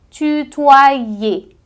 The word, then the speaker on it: tutoyer: Não, você tem que dizer como se fosse um E acentuado. Tutoyer.